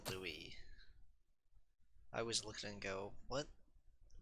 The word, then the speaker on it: Louis: It always bothers me that his name is spelled like Lewis, but his name is actually Louis. I always look at it and go, what? Pardon? And then I tend to call him Lewis a lot as well.